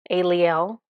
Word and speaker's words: Aliel: Her name is A Aliel. Aliel. Aliel. Yes, that's how you say it.